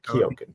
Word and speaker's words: Keoghan: Banshees of Inisherin, they've seen movies with Barry Keoghan.